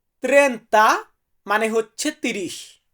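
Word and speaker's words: trenta: এরপরে আছে 30 30 কে আমরা ইতালিতে বলবো ত্রেন্তা ত্রেন্তা মানে হচ্ছে 30 সো ভিউয়ার্স এরপরে আমরা 31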